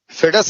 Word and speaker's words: foedus: ठीक है, फेडस इसका प्रोनाउंसिएशन है।